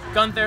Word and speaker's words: Guenther: got a fan page it's just gunther okay but there's a there's a e in there it's g-u-e-n-t-h-e-r-o-k-a so i'll